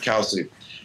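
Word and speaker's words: Kelce: But the Travis, Kels, and Jason podcast, how do you say their last name? Kels or Kelsey? Kelsey. That's one thing I forgot to ask them. Wow. All right, Kelsey.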